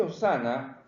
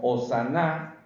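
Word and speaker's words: Hosanna: Miren qué interesante, este Hosana, o también se puede pronunciar como Hosaná, ¿ya?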